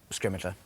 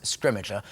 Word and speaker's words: Scrimgeour: have Bill Nye playing scrimmage er who is fantastic there was there we have kind of eventually reached consensus on how to say his name and we go with scrimmage er I think that's how